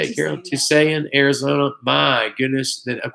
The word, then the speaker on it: Tusayan: Tusayan, Arizona.